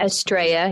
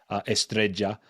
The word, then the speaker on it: Estrella: I don't know if you know the Y or the double L in Spanish is pronounced like a Y, like Marbella, the Y at the end. Estrella, yeah, I know that one, yeah.